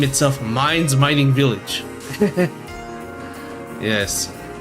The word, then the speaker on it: Mines: This place actually didn't name itself Mines Mining Village. Yes. Oh man, I pronounced it mains. It actually is pronounced mines.